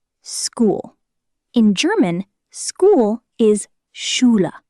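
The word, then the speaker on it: Schule: In German, school is shula. Chula. Sounds like shula.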